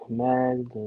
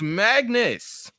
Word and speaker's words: Magnus: who are A's roster his name Magnus nobody mag that's a copyright infringement magdalin Magus no it's Magnus and spell it spell it m a n us Magnus he wrestles for cmll